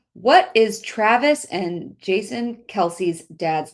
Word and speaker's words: Kelce: It's pronounced Kelse, but that it's been mispronounced Kelsey so long that they just go with it.